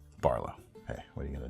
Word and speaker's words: BRLW: That's the way it's pronounced. There's no vowels in it. It's BRLW. BRLW, all caps, no vowels. Barlow.